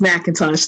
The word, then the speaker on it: McIntosh: So up next, I have McIntosh, maybe? Yes, it is Macintosh. Thank you for pronouncing it correctly. It's just like the apple.